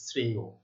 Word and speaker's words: শ্রেয়: শেষে অন্তস্থ অ রয়েছে, তার ঠিক পূর্বে এ ধ্বনি রয়েছে, এই যে, তাহলে কি হবে? এটির উচ্চারণ হবে অন্ত অ, অর্থাৎ অন্ত অ এর বা শেষের অ এর উচ্চারণ ও এর মতো হচ্ছে, শ্রেয়।